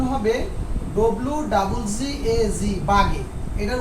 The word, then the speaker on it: Waage: কারণ জার্মানি ভাষায় ডব্লুর উচ্চারণটা কির মতো হয়? তোমার বয়ের মতো হয়। কেমন? ডব্লুর উচ্চারণ। তো এটা যদি বি হয় তো বি বাগে, BAAG, বাগে। আচ্ছা যাই হোক, এটা সঠিক উচ্চারণটা হবে পিটার বাগে।